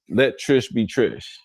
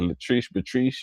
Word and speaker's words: Let Trish Be Trish: Her name is Let Trish Be Trish. When I first came across her, I ain't know how to say it. Latric Patrice. I ain't know, but it's let Trish be Trish.